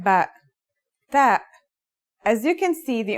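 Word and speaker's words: ت: The pronunciation is like the English T, except you should release your breath with a strong burst of air.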